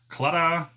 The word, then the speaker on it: Claddagh: It's kind of like ta-da, except Claddagh.